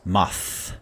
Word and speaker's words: moths: hard time with moths I pronounce this moths just extending the th sound more hmm this one we